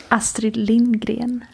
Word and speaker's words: Astrid Lindgren: Can you give the listeners a lesson on how to pronounce Astrid Lindgren? Astrid Lindgren.